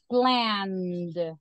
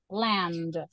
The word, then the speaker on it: planned: pronunciation of this one because you have n so planned it's going to be a d planned that is what she